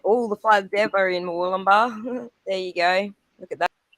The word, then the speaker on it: Murwillumbah: I forget how to spell it. Yeah, that one. MUR Well, WILLUMBAH. Well done. Is it Wollumba? Murwillumbah.